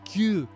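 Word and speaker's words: 九: Japanese four nine is cue cue sounds like the first part of the word cube the giant boy has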